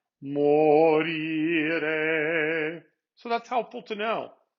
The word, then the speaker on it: morire: And in the next word, it's also the second. Morire.